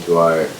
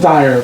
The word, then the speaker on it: Dyer: I know of Wayne Dwyer. Dwyer? I think Dyer. Dyer. Wayne I think I Dyer. pronounced it wrong.